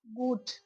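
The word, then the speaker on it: gut: Next है good जी यू टी गुट।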